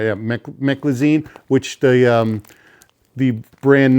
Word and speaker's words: Meclizine: Let me make sure I'm pronouncing it right. Yeah, Meclizine, which the brand name is Bonine, which is